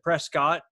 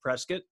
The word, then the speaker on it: Prescott: to be in prescott arizona or i said prescott turns out it's pronounced prescott um i went there to do stand-up comedy